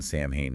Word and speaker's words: Samhain: Pronounced Samhain, October 31st.